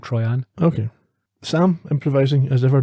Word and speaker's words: Troian: Troian over and over is it trying to try and she says try and she should have used an e if she wanted it pronounced that way I'm calling it try on okay Sam improvising as